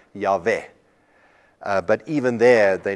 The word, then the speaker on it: Yahweh: era started reading this they thought that pronounce Asian is Jehovah or yahuveh which is why we in many of our songs today we talk about Jehovah but it's actually a wrong pronunciation it is the Hebrew vowels for adorned I and so most scholars agree that the most the the better pronunciation is something like yave but even there they